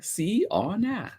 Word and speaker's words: Siona: nice for my best friend siana and you pronounce iona's name si ona siyana siana has an absolutely amazing smile and